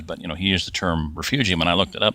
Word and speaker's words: refugium: at length here, but it is pronounced refugium. That is kind of a